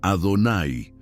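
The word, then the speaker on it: אֲדֹנָי: Las cuatro letras yudi, vabbhei, que no se pronuncian como están escritas, sino que se sustituyen por la palabra Adonay, que significa señor.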